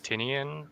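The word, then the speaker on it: Tynion: of uh James uh tin tinian is how you pronounce his name like his his works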